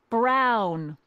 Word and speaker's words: Brown: bill to a t that's emmett brown rhymes with clown which i'm beginning to